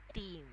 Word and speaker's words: team: It's not tim. It's team.